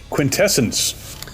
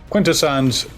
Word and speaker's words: Quintessons: hated in cyberverse how they didn't call them quintans they called them quintessence it's like dude there's there's reference material out there you don't have to just make up your own pronunciation I don't know if that's the more technically English way of saying it if you threw it into an AI you know how do you say this word if it would say it quintessence but uh quintessons are what they've always been so why but then